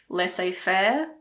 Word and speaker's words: laissez-faire: Again, there aren't that many words in English with a silent Z. The most common ones are probably laissez-faire and rendezvous. Laissez-faire, rendezvous. Both of these words come from French.